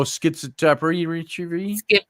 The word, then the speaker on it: schizotypy: Oh, schizotypy.